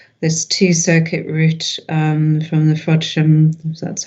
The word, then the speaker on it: Frodsham: Just in terms of this two-circuit route from the Frodsham, that's how it's pronounced, substation, to Fiddler's Ferry substation, can you just explain the background to that briefly, please?